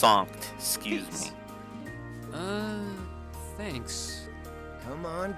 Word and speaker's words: Sankt: Oh, it's pronounced Sankt, excuse me.